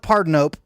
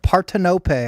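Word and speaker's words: Partenope: And I do call it Partardinope when I'm not on a camera of any kind, but I want to sound smart. Partinope. I looked it up is the proper pronunciation.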